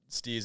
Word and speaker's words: STZ: Like you stay STZ. That's how you pronounce it. STEEZ, but you have never seen anything with that word on it. Not throwing those double E's in there. Only Absolutely not. the abbreviation.